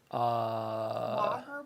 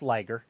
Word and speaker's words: Liger: What's a Liger bomb? Lager bomb? It's Liger. You said it right.